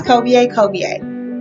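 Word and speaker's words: Kobie: So, yeah, it's Kobe A. Yes, it's spelled different, K-O-B-I-E with the accent on the E.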